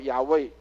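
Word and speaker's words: יהוה: 我们大概现在都会知道，那个叫做它的读音叫雅卫啊，它的意思叫雅卫，就是耶和华。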